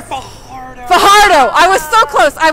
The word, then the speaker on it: Fajardo: Oh, not Fajardo. Fajardo. Fajardo.